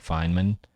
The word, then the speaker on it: Feynman: I know how to say it, Feynman.